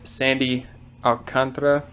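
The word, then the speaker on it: Sandy Alcántara: know I saw young we went with soundie Sandy alcantra that is correct pronunciation um I mean that's a young Star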